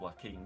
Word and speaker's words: Joaquin: Well, that that doesn't I mean, you it's pronounced Joaquin, isn't it?